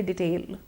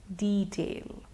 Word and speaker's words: detail: Now a lot of us often say detail, don't we? Actually the pronunciation is detail.